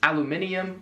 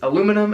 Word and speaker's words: aluminium: they're trying to say next up is aluminium which it's aluminum and don't say that's what they're trying to say that's just how they pronounce it that's not so keen on this guy right now which is aluminum as we would say it third is oregano